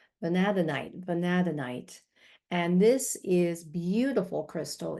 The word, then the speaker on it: Vanadinite: Vanadite. I always have trouble with these crystal names. I actually looked up the pronunciation. Vanadinite.